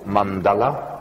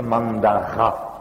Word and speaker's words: mandala: Le dessin sacré en Inde s'appelle mandala, mandala, comme je pense chacun sait. Et comme les Japonais sont incapables de prononcer le L, comme chacun sait, eux appellent ça mandara, mais ça revient strictement au même.